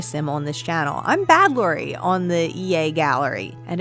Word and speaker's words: badlorie: or create a sim on this channel, I'm badlorie on the EA gallery, and it's spelled just like you see it here, B-A-D-L-O-R-I-E, badlorie.